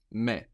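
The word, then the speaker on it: με: same as in English you just pronounce it more like how it's written me me me so that's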